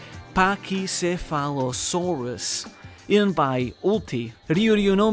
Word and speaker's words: Pachycephalosaurus: To help you out, it's pronounced Pachycephalosaurus.